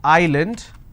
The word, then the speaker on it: island: solution all right but if i have a word which is island i don't pronounce this as island so s is silent here okay for example